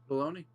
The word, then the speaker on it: baloney: Baloney. Nah, I've got some on my sandwich. Understandable. Did you know that baloney rhymes with pony?